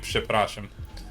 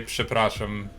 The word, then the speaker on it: przepraszam: how I was saying przepraszam. I could not say przepraszam. How'd you say it? I can't even remember now. I don't think I was putting the P sound at the beginning.